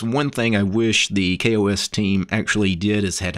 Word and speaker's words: KaOS: look at kos but it's actually supposed to be kos not chaos which i think is